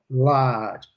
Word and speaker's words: large: Extra large. Extra large. Ok? Eu sempre falo, mas é bom sempre lembrar. Large. Olha a pronúncia britânica, Luciana. Large. Large. Não tem o E. Olha a pronúncia americana, large.